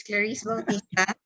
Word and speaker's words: Clarisse Bautista: So yes, you pronounced it right. It's Clarisse Bautista.